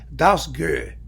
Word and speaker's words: Dausgaard: The conductor who's in Seattle, Thomas Dausgaard, right? That's his name. Well, I put it in a Danish pronunciation thing, and it's apparently Dausgaard.